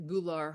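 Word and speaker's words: gular: and then they scoop it up and that gou pouch G pouch spell that word for us g u l a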